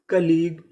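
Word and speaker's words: colleague: अगर आपको आखिरी में GUE लिखा मिले तो उसे क्या पढ़ना है? गा।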